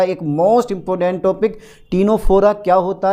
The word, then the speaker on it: Ctenophora: है वो है हमारा टीनोफोरा। ठीक है बेटा डाल दो जरा। टी नो फोरा। ठीक है सर। टीनोफोरा यानी कि सरफोरा। टीनोफोरा डाल दे बेटा हेडिंग। ओके। ओके। सी साइलेंट रहता है।